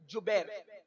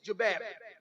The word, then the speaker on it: جبیر: صحابہ کو عبداللہ ابن جبیر، زبیر نہیں بلکہ جبیر، جیم سے جبیر، تھوڑا سا آج کل